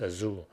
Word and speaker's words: Azure: And so if you pronounce in more like European ways, Azure, but I think a lot of Americans pronounce this as Azure.